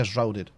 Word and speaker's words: Enshrouded: No lo pronuncio, o sea, tengo acento, pero se pronuncia Enshrouded.